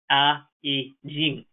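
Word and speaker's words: 蚵仔煎: is the oyster omelet pronounced by everyone in taiwan as a jing the dish consists of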